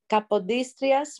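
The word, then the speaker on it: Capodistrias: it was a kappa dystrea yes it was kapodistrias museum um you can find us online it's spelled with a c c a p o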